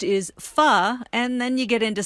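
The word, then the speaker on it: phở: got to be careful yes yes that's because foe properly pronounced is fu and then you get into some word play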